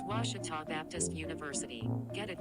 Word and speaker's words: Ouachita: ouachita sports digital network i've heard people say oh a cheetah oh wish tall oh a cheetah is it pronounced oh akita searching for washi at a baptist university back in texas everybody pronounces it wichita but really it's ouachita washington washington how would